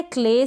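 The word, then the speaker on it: clay: आगे है क्ले, CL का अपना कॉम्बिनेशन होता है, यानी L के साथ आपको कोई ना कोई कॉन्सोनेंट मिल जाएगा, क्ले, और उस कॉन्सोनेंट को हम आधा प्रोनाउंस करेंगे।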